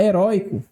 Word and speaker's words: heróico: Na letra A, heróico, ela é uma palavra paroxítona. Veja, heróico recaiu sobre a penúltima sílaba.